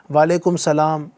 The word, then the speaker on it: وعلیکم السلام: وعلیکم السلام، وعلیکم السلام۔ بعض لوگ وعلیکم السلام، مالکم السلام، وسلام اس طرح بھی بول رہے ہوتے ہیں، تو صحیح تلفظ ہے وعلیکم السلام۔ ماشاءاللہ۔ رضائے حق کے